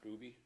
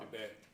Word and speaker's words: Dubay: Lander County and the Dubay? Is that how you say it? Dubay? Not Doobie? Dubay.